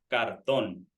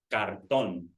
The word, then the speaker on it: cartón: Cartón. Cartón. So when you see that little accentuation in the O, that means that we pronounce the O a little stronger than the other one. Cartón.